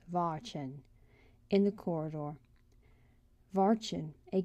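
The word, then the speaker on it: Watschen: she was given what was known as Vin pronounced Vin in the corridor Vin a good hiding place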